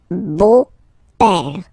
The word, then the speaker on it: beau-père: in French it's le beau-père, the beautiful father, le beau-père. So remember this E, A, U combination of vowels only give you the sound O, beau, okay, le beau-père.